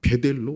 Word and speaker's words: 베델: 그러면서 일어나 베델로 올라가. 이 베델이라고 한 게 뭐냐? 하나님의 집이라는 거예요. 그래서 베트 집 그다음에 델 사실 좀 엘인데 히브리어 발음상은 델이란 저 그런 저 억양이 나와요.